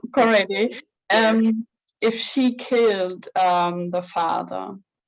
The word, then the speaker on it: Korede: It's Korede.